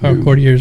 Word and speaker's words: Courtier's: I didn't hear you say the co part of it. All I heard was Tears Regalia. I'm like, Courtier's Regalia.